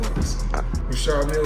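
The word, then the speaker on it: Richard Mille: No, I like to call this Well, they people pronounce him different. Rashad Mill is what my jewelry told me.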